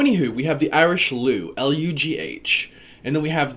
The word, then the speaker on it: Lleu: They're all pronounced Lleu, except for that us at the end of the Gaul, Lugus.